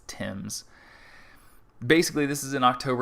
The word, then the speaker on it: Thames: british phrasing for a british word it's not thames it's tim's basically this is in october 1813 just nor